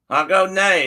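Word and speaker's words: Hágoónee': so bye bye I I looked up how to say goodbye and uh I'll go nay is how you say it in Navajo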